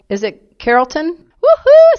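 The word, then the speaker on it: Carrollton: now I'm in a town called is it Carolton woohoo I said it right Carolton and it is the place for Operation Kindness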